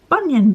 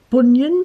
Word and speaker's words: Bunyan: of saying have you heard of vashti banyan bunyan bunyan bunyan i find it really hard to